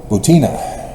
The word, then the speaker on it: Butina: Maria Butina. I don't think I pronounced her name right. Butina. Maria Butina. It's a double I, and most Americans drop the one phonetic I.